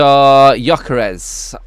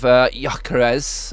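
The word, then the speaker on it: Gyökeres: of Swedish people and that is a bit of a silent G going on at the front there so yeah correct M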